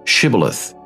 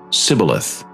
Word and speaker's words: shibboleth: would say to him then say shibboleth and he would say sibileth for he could not pronounce it right then they would